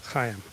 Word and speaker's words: Chaim: And so when you learn Chaim, all right, the Hebrew CH sound, Chaim, right?